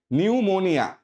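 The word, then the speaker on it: pneumonia: তোমার এখানে শব্দটা দেখো প্রথমে পি আছে কিন্তু আমার পি আমার সাইলেন্ট থাকবে উত্তরটা কি হবে নিউমোনিয়া নিউমোনিয়া সিম্পল এটা কি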